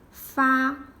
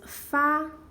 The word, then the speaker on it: 发: show you tiny Chinese handwriting and the character far step by step I will write it in